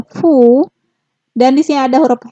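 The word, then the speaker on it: ふ: Untuk hu-nya nggak ada, tetapi dibacanya fu.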